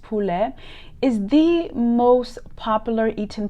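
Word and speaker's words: poulet: pigeon and turkey chicken known in french as pule which is spelled p-o-u-l-e-t pronounced pule is the most popular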